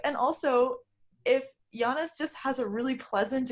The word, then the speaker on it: Giannis: note to the fan Sarah has now started to spell Yanis his name why a and and us to remind yourself how to pronounce it yeah after after kind of getting that so wrong on the last episode I decided okay I'm gonna have just do this phonetically and then I'll figure it out so now I know how to say his name it's Yanis hey congratulations me okay